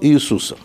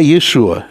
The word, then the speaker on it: Иешуа: Поэтому Иешуа стал Иисусом. Но его не Джезус, не Иисус, не Иисус, да, а Иешуа имя.